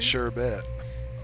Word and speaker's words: sherbet: around here it's spelled Sherbet, and that makes it Sherbet.